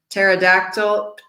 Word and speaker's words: pterodactyl: P right like psychologists we don't pronounce the P or psychotherapy or pterodactyl let's look at the